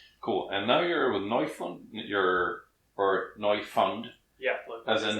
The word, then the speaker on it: Neufund: As in, do you pronounce it in German, English, or... It's kind of a portmanteau of German and English, exactly. A little bit, you're pronouncing it a little bit the way it happens to come out.